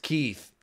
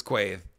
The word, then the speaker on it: Quaithe: So Quaithe is pronounced Keith. No, I'm pretty sure it's Quaithe.